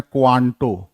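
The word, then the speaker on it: 関東: नोबी या कांतो, क्वांटो है तो कांतो, का असली प्रोनाउंसिएशन है क्वांटो, क्वांटो।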